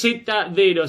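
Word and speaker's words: Zdero: Pronuncia es Zedero, Sledo sería.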